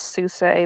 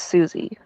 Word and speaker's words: Susee: Well, Josh says it's Susee, but his mother argues with him and says it's Susie.